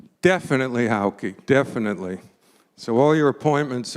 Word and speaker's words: Hauke: And also the pronunciation of Hauke, because how many times are people meeting at Hawk Park? And we're so thankful that we all can pronounce it correctly. Definitely, Hauke, definitely.